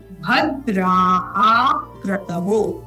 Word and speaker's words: भद्राकृतौ: आनुभद्राकृतौ, यहाँ द युक्त है, द्र आ का स्वर, भद्राकृतौ, ये जो आधा क है और उसके बाद क्र है, इन दोनों को युक्त करते हुए बोलना है भद्राकृतौ, इस प्रकार से।